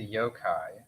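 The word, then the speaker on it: yōkai: that's cool um I'm obsessed with the the yo-kai am I pronouncing that right yeah you are my favorite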